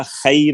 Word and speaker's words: خیر: ہاں اے بولتے ہیں، اردو میں اس کا تلفظ غلط ہو جاتا ہے، خیر ہے جی، غیر حاضر، عربی میں خیر نہیں ہوتا، خیر ہوتا ہے، خی غی ای بئی،